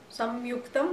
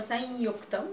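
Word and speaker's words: saṃyuktam: So sam in the front of yuktam, samyuktam or sanyuktam, you can pronounce it both ways.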